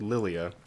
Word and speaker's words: Lilia: Japanese, the L and R sound are kind of interchangeable. Okay, right. Lilia. Since they spell it Lilia in English, might as well use Lilia.